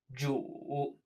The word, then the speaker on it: 煮: Notice this has the exact same pronunciation as Lord. 煮.